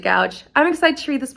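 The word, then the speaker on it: Goudge: magic by elizabeth gouge i've heard her name scooch i've always pronounced it gouge i'm excited to read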